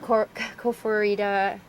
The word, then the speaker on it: Koforidua: Koforidua, Ghana. I think I'm pronouncing it wrong, but they You got it.